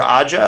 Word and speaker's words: Aja: released a movie from alexander aja i think is how his name is pronounced the guy who directed